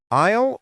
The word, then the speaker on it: aisle: They might follow with isle or window. That's your seat choice. You can say isle seat please or window seat please. And here's a pronunciation tip. isle sounds like ill. The s is silent.